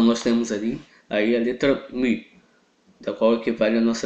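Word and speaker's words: μῦ: Alguns chamam de Mu, mas a verdadeira pronúncia dele é Mi.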